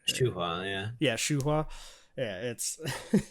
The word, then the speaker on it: Shuhua: for how do I say her name is Shuhua, right? Shuhua, yeah, Shuhua.